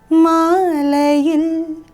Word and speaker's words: Maalayil: Also notice the stress I am giving on that last syllable. Maalayil. Il. You see that push? I am not singing it plainly like Maalayil. It's not like that, right? So we are giving a stress.